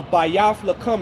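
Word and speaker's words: בית לחם: born in Bethlehem uh bayf L is how you say Bethlehem in the uh Hebrew the house of bread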